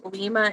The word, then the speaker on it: Lima: Or I guess it's probably Lima, isn't it? Like Lima beans. I don't know why I pronounce it Lima.